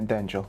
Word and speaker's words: Denjell: people would understand that it's not Daniel, it's Denjell. And that's how I got the Denjell. Yeah, I was very confused about your name in the beginning. Yeah. Denjell.